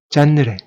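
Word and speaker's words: Jeanneret: 이쪽은 꼬르비제의 형인 알베르 잔느레. 꼬르비제의 본명이 에두아르드 잔느레였고요. 꼬르비제는 가명이죠. 건축이나 예술 활동을 하기 위해서 지은 이름인데요. 원래 이름은 잔느레였고 꼬르비제의 형의 이름이 알베르 잔느레. 그러니까 불어라서 T를 발음을 하지 않습니다.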